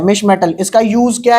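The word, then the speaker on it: mischmetal: और नेक्स्ट इसके बाद बात करूं, हाँ, एक अलॉय होता है, जिसका नाम है मिश मेटल। क्या नाम है? मिस मेटल नहीं है, मिसेस वाला मिस नहीं है, मिश।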